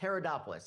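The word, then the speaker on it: Haridopolos: And it's pronounced Herodopoulos.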